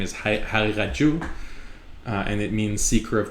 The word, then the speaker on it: Haqiqatjou: I pronounce Haqiqat with the Persian pronunciation of the qaf, not correct tajweed with qalqala. Haqiqat is very difficult. So Haqiqat. Persians make it more of a ghain sound, a ghain.